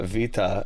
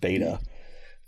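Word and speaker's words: Βήτα: A B is a V. That's right. In the English side, it's Alpha Vita. You know, it's not actually pronounced Beta.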